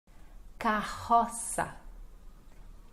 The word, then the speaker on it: carroça: Carroça, carroça. Lembrando que C cedilha no português tem som de S, então sa. E os dois R's são fortes no português, então fica ro.